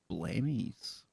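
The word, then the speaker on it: Blemmyes: blemish it's i think it's spelled b-l-e-m-m-y-e-s blamey's yeah just do a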